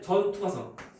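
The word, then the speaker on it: 전투과성: 그래서 우리가 세포병 경우는 우리가 어떻게 많이 표현하냐면 참고로 우리가 전부 다 통과하니까 우리가 말할 때 전투가성. 전투가성 이렇게 말해. 그래서 발음 잘 말하잖아. 전투 과성은 아니고 전투가성.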